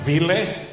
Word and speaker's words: Vili: So, but it's pronounced Vili? Like Willie, but Vili.